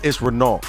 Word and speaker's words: Renault: Well, you said it wrong. It's Renault. It's French. I'm saying, French.